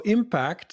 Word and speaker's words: Impaakt: today right so so impact the way I'm saying it it is spelled i m p a a KT in one sentence B tell us what does impact do and first of all am I saying this right absolutely it's just pronounce exactly